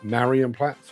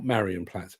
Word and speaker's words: Marienplatz: railway in Munich, to Marienplatz. Or not Marienplatz, it's Marienplatz. I always say Marienplatz because that's how it's spelled.